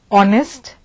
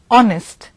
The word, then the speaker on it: honest: the H in our the H in honest is silent therefore we must remember